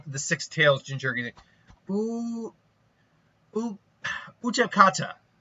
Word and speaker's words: Utakata: Utakata. Utakata. I just always went like Utaka or Utaka or something like that. Utakata.